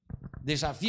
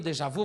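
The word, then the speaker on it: déjà vu: o que é dejavi dejavi ou Dejavu vai depender da pronúncia francesa de cada um né es que vu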